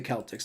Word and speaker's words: Celtics: in New Orleans Celtics it should be the Celtics not the not the not it's should be a hard sea you know like you would say cake right the the the